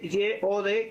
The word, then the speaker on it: Yod: Se escribe Y-O-D, que es Yod, de uno de los nombres, iniciales de los nombres del Eterno.